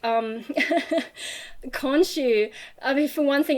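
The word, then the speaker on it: Khonshu: mean for one thing it took me a while to get that pronunciation right in my head because i'm used to reading it just in text and i don't know how anything's pronounced but my brain was pronouncing it konzu and then another thing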